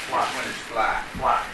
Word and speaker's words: Flight: He was a colorful individual with Fly. but it's spelled Flight. Yes, Fly, Carrie Fly, who actually owned the house two doors away from where I currently live, which makes Mrs.